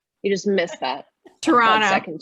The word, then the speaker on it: Toronto: Close, Toronto. You just missed that. Toronto. Second T. There it is. Patrick put it in the chat. Toronto. So the T is silent, basically, or the second T is silent.